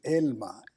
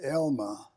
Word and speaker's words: Elma: My wife's name is Elma. In English, it's pronounced Elma, and people think it's A-L-M-A, but it's E-L-M-A.